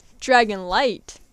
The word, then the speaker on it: Dragonlight: Dragonlight. It rhymes with Dragonite. Because the last one's Dragonite.